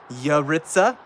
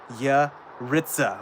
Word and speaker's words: Yaritza: It's ya and then Ritza. And it's spelled Yaritza, but you say it with Okay, so Yaritza. Yaritza.